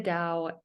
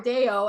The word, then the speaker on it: Dao: saying it right yeah d-a-o i know and i call her day-o and i'm i'm saying it wrong i apologize to aleya